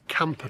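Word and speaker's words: Kampa: Right, we're now going to head down towards Camper Park, which is spelled K A M P A Park, not camper as in campsites, and it's one of the most tranquil spots in Prague.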